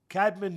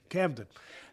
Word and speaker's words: Camden: Well, first of all, it comes from Cadman, New Jersey. Uh, am I saying it right? Yeah. Right. Camden.